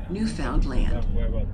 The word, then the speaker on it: Newfoundland: They will tell you that the name of their country is pronounced with the accent on the last syllable, Newfoundland.